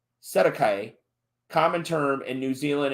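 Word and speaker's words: cestui que: all of a sudden the ces to hua trust pronounced sedekai common term in new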